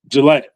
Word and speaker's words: Gillette: So, I was like, "Bro, what's the proper pronunciation?" He was like, "Jillette." So, okay. Like that. Yeah. I said, he was like, "Yeah." Yeah. Yeah. Yeah. Yeah. Like the deodorant.